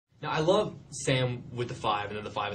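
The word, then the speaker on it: Sa5m: Now, I love Sam with the five, and then the five is silent.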